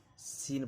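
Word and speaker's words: scene: जब भी सी के पहले एस हो तो सी हमेशा साइलेंट रहेगा। साइंस इसको पढ़ा जाता है। यानी आपको सी को नहीं पढ़ना है। सीन पढ़ा जाता है इसको।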